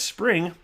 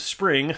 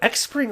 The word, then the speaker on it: Xpring: But I was like, Xpring, and that's the way everybody says it before they hear it properly said. So it's pronounced Spring, but there's no way